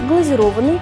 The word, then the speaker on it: глазированный: При этом ударение падает на гласную «о». Правильно говорить «глазированный», «пломбированный», «гофрированный». На этом у меня все.